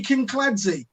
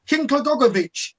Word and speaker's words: Kinkladze: Georgie Kinkladze. Oh, Georgie Kinklagogovic. No, look at it. It's 3 syllables, you ignorant git.